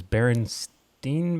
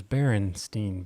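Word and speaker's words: Berenstain: actually was spelled s-t-a-i-n i guess it's still technically pronounced steen so it wasn't some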